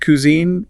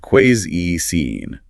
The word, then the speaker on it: cuisine: It is not cuisine, and it is certainly not cuisine. It is pronounced cuisine.